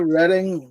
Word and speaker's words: Reading: They got absorbed into Conrail in 1976, along with the Reading Railroad.